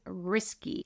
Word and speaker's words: Risky: But I think the most remarkable fella was Risky. He let us know that it's pronounced risky, like risky business.